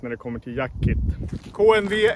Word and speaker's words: KNV: Idag ska vi kolla på en kniv från svenska Jackkit. Och det är deras KNV, eller kniv kanske det uttalas. KNV 2.